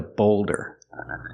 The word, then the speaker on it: boulder: I called it a boulder. That's another name for a huge, giant rock. It's a boulder. Used a long O like cold and old.